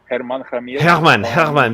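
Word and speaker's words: Germán: Herman. But it's spelled G. There you go. Stupid English man here. Herman. No, Herman. He's like, actually his name is written like German.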